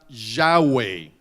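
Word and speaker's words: Yahweh: de Israel Jehová ve esa palabra Jehová es la palabra yaway así se pronuncia no en y cuando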